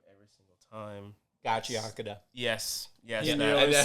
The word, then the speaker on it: Gachiakuta: And then I butchered the name every single time. Gachiakuta.